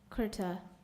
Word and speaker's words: kurta: caviar your word is kurta kurta am i pronouncing you're right yes you are kurta k u r t a kurta correct so